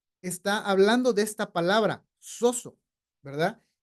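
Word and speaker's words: σώζω: tenemos a la izquierda en griego se pronuncia soso Sí y significa salvar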